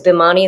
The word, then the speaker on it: Bhimani: whether we should call it the bimaniacs because bomani is how you pronounce it or the maniacs because maniac but